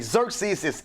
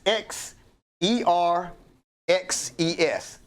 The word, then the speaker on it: Xerxes: up fast huh okay Xerxes x e r x e s circuses that that X is a z it's pronounced with the Z Xerxes right so it's